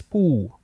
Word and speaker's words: ปู่: And the version for paternal grandfather in Thailand is poo. Ooh. Poo. Almost like a P, but you don't really hit the P really hard.